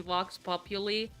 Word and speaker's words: vox populi: By the way, it's pronounced Vox Populi. It's not pronounced Vox Populi, but that's how they pronounce it in the song, so... meh. But it is not how it's pronounced. Because it comes from the Latin saying.